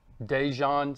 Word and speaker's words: Dejon: Dejon Steele? Day. Day Steele. Let's just go Day. That's what he likes to call it. It's Dejon. You're right. That's how you say it.